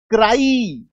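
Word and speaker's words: cry: का नहीं होना चाहिए अगर सिंगल सिलेबल का होगा तो आई जैसा साउंड आएगा तो सिंगल सिलेबल होगा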